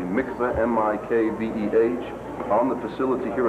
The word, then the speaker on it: mikveh: community about the construction of I want to pronounce it correctly, mikveh, M-I-K-V-E-H, on the facility here at the Marriott?